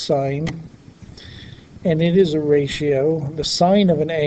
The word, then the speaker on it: sin: called sine it's abbreviated as I am it's pronounced sine and it is a ratio the sine of